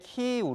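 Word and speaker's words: 키이우: 커지는 우크라이나 소식으로 이어갑니다 저희는 우크라이나 정부의 요청에 따라 지명 이름을 러시아워 발음이 아닌 우크라이나 c 발음으로 표기하기 했습니다 수도 키에 부도 이제 키우 로 표기 하겠습니다 키 후에 방송 송신탑이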